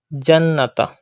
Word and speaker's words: الْجَنَّةَ: Jannata. Pronounce noon mushaddad with gunna.